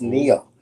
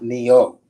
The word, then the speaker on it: Neil: don't get along with it's Neil not Neo so I got to be